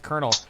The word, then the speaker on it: colonel: colonel out of that and he's like it's pronounced colonel i was like why would you know that